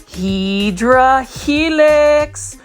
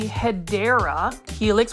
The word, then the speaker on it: Hedera helix: Now this plant right here is another Hydra Helix, or what you call the Hedera Helix, which is the correct way to say it, or English ivy.